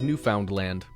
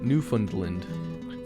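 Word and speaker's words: Newfoundland: most people not from here tend to say New Foundland or new fund new fundland for some reason when the correct pronunciation is New Found land thanks Justin and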